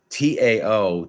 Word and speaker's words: Tao: case anyone doesn't understand Tao da it's pronounced with like almost like a D sound but it it's the